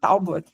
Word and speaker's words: Talbot: Talbot. Perfeito. Eu falo Talbot mesmo. Qualquer jeito que as pessoas falam, eu digo que é o jeito certo.